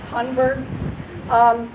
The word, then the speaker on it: Thunberg: Driven, as has been stated, and I'm sure you all know, by Greta, I believe her name is pronounced Thunberg.